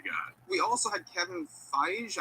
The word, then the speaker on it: Feige: We also had Kevin Feige. I'm not quite sure how to pronounce his name. Feige. Oh my god, it's Feige.